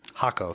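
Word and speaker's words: Jacó: Is it uh Yako Hakaco? Hako. Thank you for the correct pronunciation.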